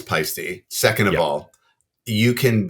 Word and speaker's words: Paiste: video but someone said how the heck do you butcher the name pisty so badly it's past not pisty it's a pet peeve of mine good info though I I think everyone at one point called it paste or py or something but I thought you